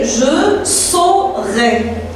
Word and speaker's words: je saurai: Et le verbe savoir, c'est je saurai. A-U qui se prononce O.